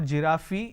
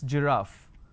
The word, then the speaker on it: giraffe: giraffe starting with g it's not jirafi it's giraffe and we have a